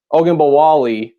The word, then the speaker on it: Ogunbowale: They had I forget, Ogunbowale is how you pronounce his name.